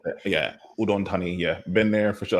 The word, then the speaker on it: Udon Thani: Okay, so it is how do you say this? Udon Thani? no, Udon Thani.